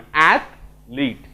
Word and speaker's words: athlete: रे ईटा पळे आसी पारे बुझि परछो तले उच्चारणटा केमिति हबो टिके थमी जिबा आमे एथलीट ठीक अछि गोटे स्ट्रेस दबा आ गोटे तळ